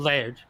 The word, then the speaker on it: Laird: Say Laird? Is that how you say it? Laird, correct.